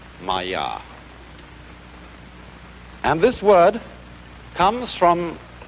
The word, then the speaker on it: maya: this kind of thing is the sanskrit term maya i'm going to write that down for you pronounced maya and this word comes from a root in